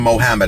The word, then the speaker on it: Muhammad: talked about this because I knew Mohammad as he always called him Mohammad. I'm not mispronouncing his name. That's just how George pronounced it.